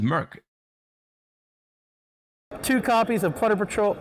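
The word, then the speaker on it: Moerk: and everybody's favorite monster is that how you say it Mo Rick no shot it's just Merc two copies of pter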